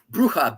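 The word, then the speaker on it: brucha: Uh bruha. B r u c h a. Brha. Bruha. Okay. It has nothing to do with the word bruha like as a witch in Spanish or bruhaha.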